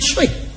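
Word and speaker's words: Twi: Good African word that come from a nice African language named Tree. You hear what name? Tree. Yeah, man. It's spelled T-W-I, but they pronounce Tree.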